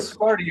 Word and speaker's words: Sparty: And Sparty rhymes with party.